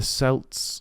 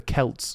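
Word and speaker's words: Celts: evil spirits walking the Earth during swin the selts the Kelts sorry the it when you look at the way kelt is spelled it should be spell it should be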